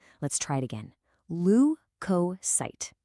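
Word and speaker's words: leukocyte: Lucosight. Let's try it again. Lu coight. See how the stress is on that first syllable.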